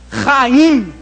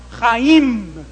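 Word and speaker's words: חיים: na época de Jesus esse ra de raim você tem que arranhar a garganta sem dó raim e terminar com m fazendo esse movimento aqui ó raim Gente vocês não t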